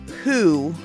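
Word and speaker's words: Hu: still, but there's this band called Who, not to be confused with The Who. The Who that we're talking about is spelled H-U, and they're a Mongolian metal band, okay?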